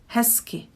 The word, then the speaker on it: hezky: So if you paid attention, I said hezky, not hezky. So I don't really pronounce the z here, and I switch it to s. So it's hezky.